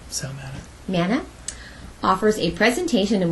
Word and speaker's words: Sal Mana: Local author and historian Sal, is it Mania? How do you say his name? Sal Mana.